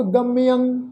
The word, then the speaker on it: गम्यं: चित हरणं त्रैलोक गम्यं गम्यं गग्गे उत्ते टिप्पी की मात्रा मम्मे के पैर में तुसीं देखो अद्धा यहीया लगा हुआ उत्ते टिप्पी की मात्रा है तो इसका उच्चारण करांगे गम्यं।